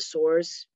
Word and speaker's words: Sourze: We had a show a few months ago at a new club in Westport called The Source. It's spelled Sourze.